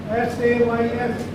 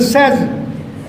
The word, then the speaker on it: says: Very simple words. S-A-Y-S. Very small word, mostly commonly used. It's a says. We have not to say he says, it is he says.